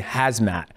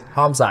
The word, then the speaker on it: Hamzat: So when I see stuff and when I read it, like Hamzat, I was saying hazmat. And my producer's like, no, dude, it's not hazmat, it's Hamzat.